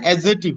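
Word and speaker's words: adjective: না, ডি এর উচ্চারণটা হবে না, অ্যাডজেক্টিভ। অথবা ওই যে অ্যাডজাস্ট বলি ওটা হবে অ্যাডজাস্ট, অ্যাডজাস্টমেন্ট। ইয়েস, ডি এর উচ্চারণটা এখানে হয় না, সো অ্যাডজেক্টিভ হবে।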